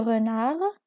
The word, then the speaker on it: renard: Le renard ما كنطقوش حرف الدي في آخر الكلمة كنتوقفوا عند حرف R.